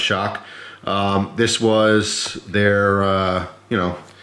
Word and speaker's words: XOC: of the crkt shock ok XOC pronounced shock this was their you